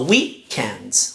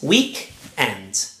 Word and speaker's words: weekend: The stress is on the first syllable. So weekend, weekend. Not weekend, but weekend.